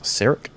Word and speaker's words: Sarek: We'll be checking out I believe the pronunciation is Sarek National Park, S-A-R-E-K, along the way with Ron leading the pack tonight.